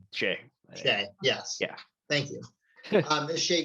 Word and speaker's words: Shai: I still don't know how to pronounce his name. Shai.